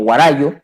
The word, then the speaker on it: Guarayo: después jugará yo que castellanizado se escribe y se lee y se pronuncia como guarayo más conocido como guarayo